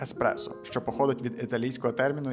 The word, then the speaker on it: espresso: correctamente el proceso, pero la palabra original italiana no tiene x, este error es tan común que incluso en algunos diccionarios de inglés se escribe con una x xpro, pero es correcto decir El espresso, que viene de un